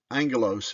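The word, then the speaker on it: ἄγγελος: number 32 uh anglos Angelos is the pronunciation they didn't have a j sound yet at that time there was no J sound so it was an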